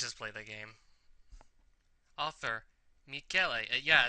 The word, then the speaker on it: Michele: His name is spelled Michele, M-I-C-H-E-L-E, except it's not even pronounced Michele, it's pronounced Michele. It's an Italian male name.